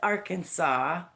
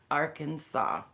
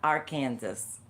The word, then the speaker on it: Arkansas: If you do not call it Arkansas or you call it our Kansas, you could be in serious trouble because you are legally required to pronounce it correctly. Arkansas, not our Kansas.